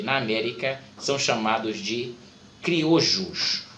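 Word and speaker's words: criollo: América, são chamados de criojos. Observe que eles são escritos com 2 L's, mas a pronúncia é criojo.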